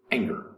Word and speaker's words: anger: okay number two anger anger has two syllables anger and goes in between the n and the g anger and these the first syllable is accented anger not anger but anger anger is a noun